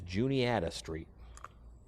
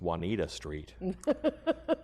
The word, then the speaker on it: Juanita: And that street is Juniata Street. That's what everybody calls it. It was only in high school when I realized it's Juanita Street. It's just Juanita Street and no one knows how to say it.